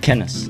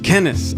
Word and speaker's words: Kenes: Kenneth. Kenneth.